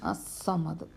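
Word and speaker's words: الصمد: വന്നതിനുശേഷം എന്തുള്ള അക്ഷരമാണ് വരുന്നതെങ്കിൽ ഈ അലിഫ് ലാമിന് ഉച്ചാരണം ഇല്ല ഈ അലിഫ് ലാം ഉച്ചരിക്കാൻ പാടില്ല ഇത് വെളിവാക്കണം ഈ അലിഫ് ലാം വെളിവാക്കരുത് ഇത് അസ്സമദ് കുൽഹു അള്ളാഹു അഹദ് അള്ളാഹു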